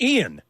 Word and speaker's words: Ian: think I've ever had an interview where someone's pronounced my name Ian so many times so wrong. Yeah, it's Ian Zering. It's Ian.